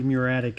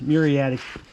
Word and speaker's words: muriatic: of the muratic ass muriatic muriatic acid i grew up saying that muratic but that's just because i grew up with a bunch of rednecks you probably didn't know how to pronounce it properly but and now i'm